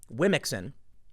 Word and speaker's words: Womxn: There was a story I covered where they said Wimixon, WOMXN, I kid you not, Wimixon. They said that's the right way to say it because it's inclusive.